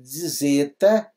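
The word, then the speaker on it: ζῆτα: em aberto em Fé o nosso dzeta dzeta presta atenção dieta tá repete comigo Zeta é o nosso Z que corresponde o c de casa não é isso então o z o nosso Z de Edson e não de zebra é isso que eu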